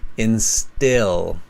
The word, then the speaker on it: instill: uh careful with that it's just a small difference in the pronunciation they're very close these two words install instill okay intill it's an i sound very nice piece of